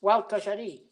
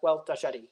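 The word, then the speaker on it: Gualtallary: So it's pronounced Wild Tajari. Just think of someone called Walter and someone called Gary and just put them together, Wild Tajari.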